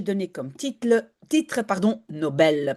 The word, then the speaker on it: Nobel: comme titre titre pardon Nobel parce que c'est comme ça qu'on le prononce en suois. On dit pas Nobel. En irlandais on dirait Nobel mais en sud c'est Nobel.